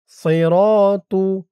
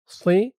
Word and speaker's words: صراط: ওয়াহাদা সিরাতু সি র সদের উচ্চারণটা খেয়াল করুন। সি বলা যাবে না। সি বললে সিনের উচ্চারণ হয়ে যাবে।